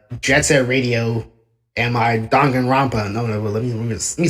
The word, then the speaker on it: Danganronpa: Like in my recent videos, like in my Jet Set Radio and my Danganronpa. No, let me say that word. Danganronpa. Yeah, that's how you say Danganronpa.